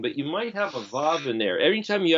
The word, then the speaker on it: Vav: But you might have a Vav in there. Every time you have the O sound, you either have the letter Vav, or what somebody would pronounce as a W-A-W, Wah, or it's got a